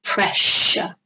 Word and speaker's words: pressure: they took his blood pressure. Okay, notice the pronunciation. Took his blood pressure. No, took his blood pressure. So it sounds like a sh sound.